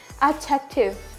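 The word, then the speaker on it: adjective: जे आ जाए तब भी डी क्या होगा साइलेंट होगा जैसे कि एडजेक्टिव क्या हो जाएगा एडजेक्टिव एडजेक्टिव क्या बोलेंगे इसे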